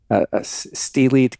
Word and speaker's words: stellate: It was a stellate ganglion. Am I pronouncing that right?